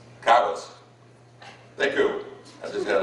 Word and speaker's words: Caguas: Herbie was born in Caguas. Is that pronounced that right? Caguas.